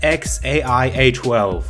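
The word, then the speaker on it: X Æ A-12: actually pronounce that name the name is pronounced X a I a 12 I just want you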